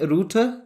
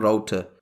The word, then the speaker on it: router: In Britain we call it router, that's the way it's being pronounced here, but in American accent it's being called router.